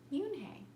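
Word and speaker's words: Unhei: "It's spelled U-N-H-E-I. It's pronounced Yoon-hae."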